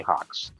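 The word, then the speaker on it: HAWX: that all right cool you you say it you say hawks yeah yeah but i know up here that's how you say it h-a-w-x i want to finally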